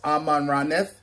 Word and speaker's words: Amaranth: of this before and it's pronounced as amman radneth so let's go ahead